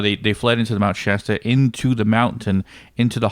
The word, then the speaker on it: Shasta: Shasta? Yeah. Why? How do you say it? Shasta. Sha, not sha.